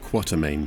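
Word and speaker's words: Quatermain: Game Hunter Alan quartermain which I know is meant to be pronounced quartermain but I'm not going to argue with John Reese Davies quarter M leads an expedition deep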